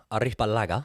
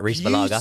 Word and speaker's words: Arrizabalaga: Kepa Arrizabalaga, however you say it, Arrizabalaga. Beautiful pronunciation, Joey.